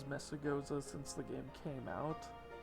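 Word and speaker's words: Mesagoza: do know that for the actual pronunciation of the city then it's Mesa goza just because well but I have said it as messagosa since the game came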